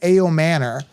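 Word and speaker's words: Ayomanor: Alec, they're pronouncing it like Alec Aomo Manor. But I call him Elique Ayam Manor. I think it sounds way better.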